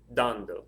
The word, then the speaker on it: dando: I say dando, dando. Where's the stress? It's over the A.